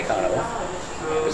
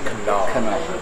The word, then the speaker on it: Kanawha: Are you sure that's not Kanawha? It's spelled Kanawha, but Siri likes to say Kanawha. Siri is not from West Virginia. No. And in West Virginia, they say Kanawha.